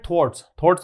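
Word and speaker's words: thwart: इसको बोलते हैं थॉट, रे का उच्चारण नहीं होता इसमें, ठीक है।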